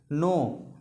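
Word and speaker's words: know: अगर आता है के तो क्या होता है साइलेंट जैसे मान लीजिए के एन ओ डब्लू के एन ओ डब्लू नो नो means क्या होता है जानना के एन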